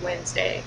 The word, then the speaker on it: Wednesday: Like, why is there an extra E in there? Like, no one ever pronounces that. Like, I've never heard anyone pronounce that in my life.